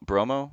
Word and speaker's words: Brummel: it's almost like tony bromo bromo is how you say his name victory brummel um yeah